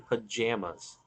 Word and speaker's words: pajamas: Okay, how do you pronounce the second syllable in pajamas? Jam us. Um, second syllable, jam, like jelly and jam. Uh, yeah, jam. That's how I say it.